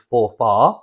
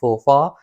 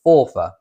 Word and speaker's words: Forfar: Now it's spelt F-O-R-F-A-R. Most people might pronounce it as Forfar. It's not Forfar. It is pronounced as Forfar, as if it was spelled F-O-R-F-E-R, Forfar.